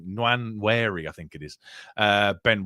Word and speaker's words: Nwaneri: And even if it's Sterling, Nwaneri, I keep getting his name wrong, Nwaneri, I think it is, Ben White at right